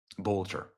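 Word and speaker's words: Boelter: Look at that, Vance Boatler. In case you're wondering if that's forged or fraudulent, here's the official documents of the Secretary of State of Minnesota. Here it is. Vance Bolcher. Bolcher.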